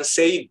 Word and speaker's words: said: Jadi I-nya tidak diucapkan. Kita cek lagi ya di pronounce di Nah, ini. Malah dia E-nya jelas. Jadi said gitu. dibacanya said, S-E-D. Tidak ada i-nya, tidak said, tapi langsung said.